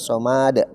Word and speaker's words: الصمد: الله الصمد Iya, ma-nya jangan sampai dikasih panjang, bilang somad, tapi langsung di ya, coba ya, somad.